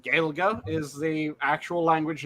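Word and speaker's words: Gaeilge: Gaelga is the actual language name. The way All right. that the English pronounced it was they would say that it was Gaelic.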